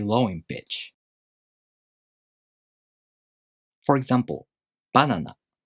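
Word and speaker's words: バナナ: For example, banana. The pattern for this word is head-high. Banana.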